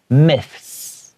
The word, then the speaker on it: myths: difficult to read because when we have a TH sound in English, our tongue is going to come out, myth. But then you have to add an S sound, myths, okay? Myths, like that. You kind of have to push out that S to get that sound out.